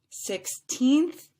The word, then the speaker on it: sixteenth: that would sound similar 16th has two syllables and that second syllable was stretched out just a little bit longer than 60th 60th three syllables sixteenth sixtieth sixteenth sixtieth and then lastly as